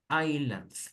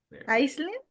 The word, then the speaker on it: island: Island, please. Island. Iceland? Island, cuidado. Iceland sería Islandia. La S no se pronuncia en isla, decimos island.